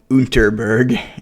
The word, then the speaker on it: Underberg: these little bottles of underberg or unterberg if you want to pronounce it like the Germans because you know the